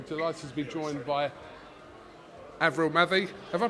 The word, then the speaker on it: Avril Mathie: I'm delighted to be joined by Avril Mathie. Have I pronounced that right?